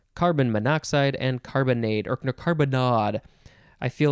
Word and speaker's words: carbonnade: our last word is carbonard i really want to say carbonade but it is carbonade n c-a-r-b-o-n-n-a d e